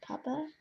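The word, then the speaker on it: Pupa: So this is the bronzer from, I think it's called Papa. P-U-P-A is how it's pronounced.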